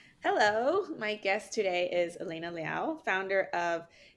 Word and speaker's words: Elena Liao: In thank you hello my guest today is Elena Liao founder of Tay company in New York City did I pronounce that right Elena yes you did thank